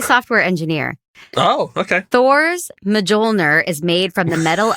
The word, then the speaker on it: Mjolnir: Thor's Mjolnir is made from the metal of a dying star. And how do you pronounce that?